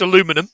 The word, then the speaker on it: aluminum: and originally made of aluminium but changed to plastic I think you I think you'll find it's pronounced aluminum but yeah that's fine Alum aluminum I'm going to kill